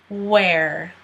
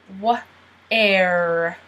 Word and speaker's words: where: Where. Don't pronounce the H again. Where.